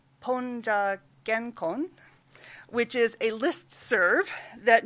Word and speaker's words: PoNJA-GenKon: She is the co-founder of, been told to pronounce this as PoNJA-GenKon, which is a listserv that means post-1945 Japanese art discussion group, Gendai Bijutsu Konkandai.